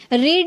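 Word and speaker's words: read: अब यहां पे इसको प्रोनाउंस कर रहे हैं। यहां पर रेड पढ़ रहा है। क्यों? यही रूल है। जब आप फर्स्ट फॉर्म में आप रीड प्रोनाउंस कर सकते हैं। बट सेकंड और थर्ड में आपको रेड प्रोनाउंस करना होगा।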